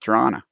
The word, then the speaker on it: Toronto: The second T is silent, Toronto.